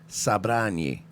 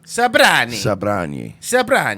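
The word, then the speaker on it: Sobranie: I'm not gonna say Croatian, I believe he said, but it's actually pronounced Sabrani. Sabrani.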